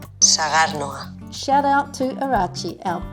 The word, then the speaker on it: Sagardoa: Forgive me if I get this wrong, but it's called Saganoa. Almost. We'll play you how it is really pronounced. Sagarnoa.